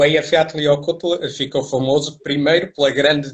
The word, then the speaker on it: Eyjafjallajökull: O Eyjafjallajökull ficou famoso primeiro pela grande dificuldade dos apresentadores do Jornal da Noite e de poderem pronunciar o nome, que na verdade se nós... Como é que se pronuncia? Eyjafjallajökull.